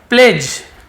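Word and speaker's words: pledge: प्लेज, D silent होता है, प्लेज नहीं बोलेंगे, प्लेज, प्लेज यानी क्या, प्लेज्ड सेकेंड फॉर्म है।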